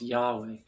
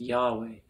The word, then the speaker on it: Yahweh: to thus pronounce most degree it would be pronounced Yahweh so why and the things go backwards in Hebrew so y-h-w-hate pronounced Yahweh Yohe is the tetragram and the uh tetragrammaton